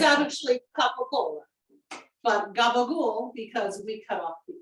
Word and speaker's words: gabagool: where Southern Italians tend to cut off the last syllables in their words, and most of the people that came over were Southern Italians. So that's where you get a lot of the, like, gabagool, stand up, Jamie.